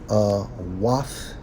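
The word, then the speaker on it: אוֹת: Strong's H 226 or 226, pronounced as wath, a sign, a signal, a distinguishing mark, proof.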